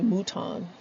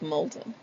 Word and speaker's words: Moulton: executive coaching dot com my friends in louis louisiana call me mouton that's something that l gets lost somewhere but it's molten but anyway i just